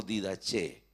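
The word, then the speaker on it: διδαχή: Biblia la palabra doctrina es pronunciada como didache y escrita como dida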